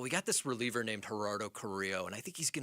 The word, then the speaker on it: Gerardo Carrillo: Gerardo Carrillo. Yeah, just that, like that, Vic.